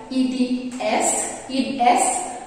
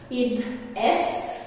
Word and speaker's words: id est: So both words are, they do originate from Latin, and IE stands for the Latin word id est, so that is what the pronunciation is according to how I checked it, id est.